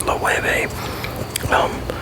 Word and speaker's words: Loewe: You got Louis Vuittons, you got Loewe, which I know it doesn't Loewe, but it's a Spanish company and that's the way it's pronounced, Loewe.